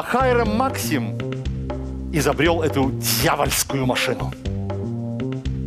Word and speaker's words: Максим: А Хайрам Максим изобрел эту дьявольскую машину. Правда, ее называли потом с другим ударением. Хайрам Максим.